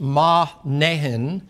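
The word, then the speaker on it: Manaen: it there, and Lucius of Cyrene, and that's pronounced Mahnehen, which has been brought up by Herod the Tetrarch and Saul.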